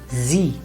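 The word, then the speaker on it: Sie: with a vowel sound in which case it is not pronounced as rather z for example the simplest word z that's the very first word that you come to know in v heist in z and it's not c it is z now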